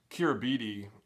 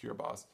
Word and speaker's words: Kiribati: going to be uh kira bidi uh the um i think it's pronounced kirbas um the islands where